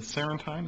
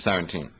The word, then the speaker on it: Sarantium: This is book one of the Sarantine. Is that how you pronounce it? Sarantium.